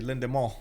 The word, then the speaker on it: Lendemain: Actually, Lendemain, right? It's that's how you pronounce it.